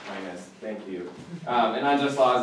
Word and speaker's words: Aquinas: Aquinas is how it's pronounced. Aquinas, thank you.